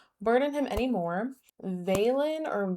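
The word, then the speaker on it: Valen: Veilen or Valon, it's spelled V A L E N.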